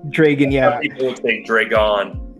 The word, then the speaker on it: Dregon: count dragon sight we we spelled it with an e so we pronounced it dragon dragon yeah people would think